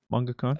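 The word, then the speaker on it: mangaka: manga cone um yeah manga khan manga khan that's how you say like the correct like pronunciation of an author of a manga uh my hopeless addiction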